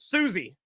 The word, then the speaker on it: Suozzi: It's Souzzi. Yeah, that's Susie.